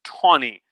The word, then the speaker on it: Taney: name is roger p tawny tawny is spelled t-a-n-e-y but i am assured